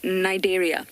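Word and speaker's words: Cnidaria: park the phylum being nigeria starts with the sea but you don't pronounce to see nigeria that also refers to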